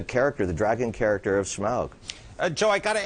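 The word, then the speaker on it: Smaug: to start with uh smog who's apparently I'm told that's the correct pronunciation we started working with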